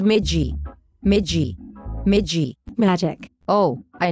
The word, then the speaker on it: MEJJI: Okay, let's try it slowly. Say me. Ma. G. Chick. What is wrong with you? Why can't you pronounce the beautiful name? It is Magi.